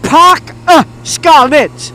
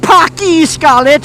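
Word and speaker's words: Parc y Scarlets: It's Park Scarlets. It's not Parky Scarlets, it's Park Scarlets.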